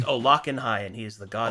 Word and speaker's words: Olokenhai: It's pronounced Olakanhai, and he is the god of madness.